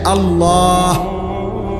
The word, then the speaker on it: আল্লাহ: বিশুদ্ধ উচ্চারণ হইতে হবে শেষে আল্লাহ শেষে একটা গোল হা আছে ছোট হা আল্লাহ মানে আল্লাহু তো